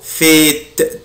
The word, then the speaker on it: fait-il: إيه وليكن Quel temps fait-il? Quel temps fait-il? Quel temps fait-il? Quel temps fait-il? Quel temps fait-il? هنا هنطع حرف T يا ولاد عشان بعدها ال I voyelle.